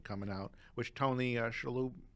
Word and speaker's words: Shalhoub: maisel it's been coming out which tony uh shalou how do you say his last name again tony shalhoub chalup is in it once again he's brilliant